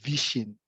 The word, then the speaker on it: vishing: Other variants of phishing is also vishing. So a different pronunciation from PHI. So this is VI.